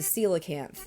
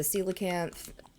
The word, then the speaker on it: coelacanth: necessarily like the stormy rain, but it's the coelacanth, and it's spelled very weird. But yeah, the coelacanth is the only one that you can catch during, you can only catch it during the rain.